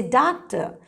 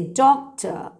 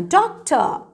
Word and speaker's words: doctor: a doctor don't say doctor say doctor she's a teacher she's a teacher remember the r is silent don't pronounce it as teacher or doctor say i'm a doctor she's a teacher he's